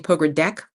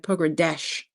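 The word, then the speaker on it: Pogradec: We say Americans are saying pograde deck but it's not. It's like pogradesh.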